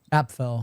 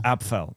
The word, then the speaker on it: Apffel: Apffel. Apffel. Okay. Yeah. by the way. So I've been mispronouncing your last name.